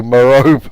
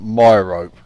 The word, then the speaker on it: Merope: So Merope has become Myrope.